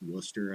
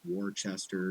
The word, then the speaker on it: Worcester: Like, I don't even know that Worcester is pronounced Worcester. I thought it was Worcester.